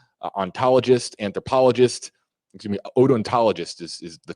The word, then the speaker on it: odontologist: uh complete examination uh ontologist anthropologist excuse me odontologist is the correct pronunciation anthropologist uh confirmation of the identity of